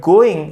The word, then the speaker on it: going: The word going is usually shortened, like so it sounds more like go in.